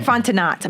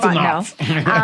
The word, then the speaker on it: Fontenot: Yeah, it looks like Fontenot, but it's pronounced Fontenot.